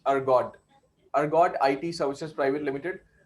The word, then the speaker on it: Ergode: So the spelling is Ergode, Ergode. We pronunciate it as Ergode.